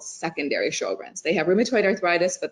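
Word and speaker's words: Sjögren's: um does and i don't know how to pronounce it s-j-o-r-g-r-e-n-s sure yeah sjogren's syndrome so that's when um that's dryness in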